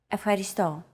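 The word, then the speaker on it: ευχαριστώ: what it was afghanisto it means thank you afaristo keep repeating after Chrissy until you get it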